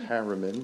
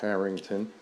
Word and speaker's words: Harrington: I'll pronounce it clearly, not Harriman, but Harrington division uh which was on Old Cape Road.